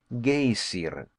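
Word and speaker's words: geyser: high above the waters the gazer a word the icelanders pronounced gayer and which signifies Fury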